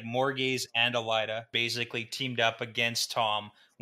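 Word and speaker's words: Elaida: And Rand asks about Elida. Is that how it's pronounced? Yep. Okay. Elida, and Gil says, no way, Jose.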